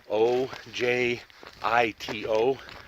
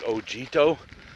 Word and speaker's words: Ojito: spell that it's actually o j i t o so it looks like ogito but the j is pronounced like an h so it's ojito wilderness